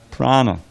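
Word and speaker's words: prāṇa: know it's it's it's based on the word Prana Prana with a DOT under the N which we don't pronounce but the long a is is on the second a pan I mean go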